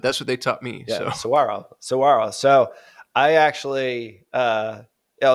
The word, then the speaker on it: Saguaro: of the Saguaro desert like pronouncing that or is there a g in there no you do squirrel you did it Saguaro okay see look at